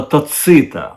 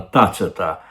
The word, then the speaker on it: Тацита: філософії які політики сідзіньпин посилається на тацита або на тацита е Дехто вважає що так правильно з таким наголосом правильно промовляти пастка таце та каже